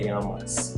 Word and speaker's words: llamas: While we're here, let's review the pronunciation of the double L in Spanish. While the pronunciation may vary from one region to another, it's generally accepted as a similar pronunciation to the letter Y in English.